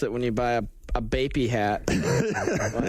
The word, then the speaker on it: Bape: That's how you gotta floss it when you buy a Bapey hat. How do you say that? Bape.